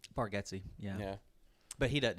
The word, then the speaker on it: Bargatze: That is Also, did you know his name is pronounced Bargetzi? Bargetzi, yeah.